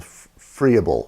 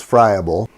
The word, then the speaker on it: friable: cover is a term called froebel or friable i've heard it pronounced both ways the the proper way is friable the term basically means